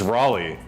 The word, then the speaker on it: Raleigh: It's why do you Well, not how know do you to say pronounce it, Raleigh? Sierra? It's Raleigh.